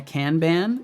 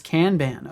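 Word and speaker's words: kanban: Yeah, canban. It's a Japanese word. Gotcha. So, it's canban. Okay, I will I will do my best to start pronouncing that correctly then if that is the case.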